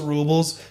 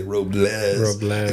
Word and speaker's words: Robles: And like the number one thing people are saying you cannot say Robels and they spell it out Robels. You got to say Robless if you're coming.